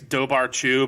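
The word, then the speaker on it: dobhar-chú: yeah that makes sense it looks like it's dobar chew but it's dao or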